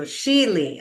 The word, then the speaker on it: Sheley: So Sheely. Okay, I'm going to say it correctly from here on out.